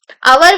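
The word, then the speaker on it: hour: But H here is silent.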